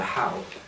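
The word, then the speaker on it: hau: or Polynesia, sorry, the Polynesian concept of the how, which is spelled there, H-A-U, this is the spirit of the gift.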